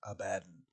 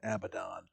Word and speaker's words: Abaddon: the despoiler would then the correct biblical pronunciation is abaddon but i've never heard a 40k player say anything other than abaddon and also infamously use